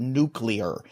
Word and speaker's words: nuclear: My resolution is to teach Derek Brown how to say the word nuclear, because there's an extra U in there that he always says.